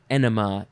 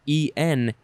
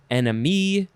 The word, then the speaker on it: enema: and a synonym is enema e-n-e-m-a not enemy not some other it's it's enema uh irrigation i mean